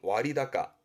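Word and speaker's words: 割高: 발음은 와리다까, 와리다까.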